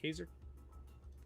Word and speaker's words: Kaiser: Is that how it's pronounced? Kaiser? Kaiser? Like Kaiser roll? Yeah.